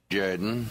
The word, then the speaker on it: Jordan: Shug Jordan coach of the Auburn Tigers it's pronounced Gooden that's a ship Jaden football coach of the